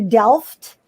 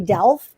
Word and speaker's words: Delft: so over the weekend um we went to delft and that's just that is the correct pronunciation um yes we in the united states say delph because in english we think the t is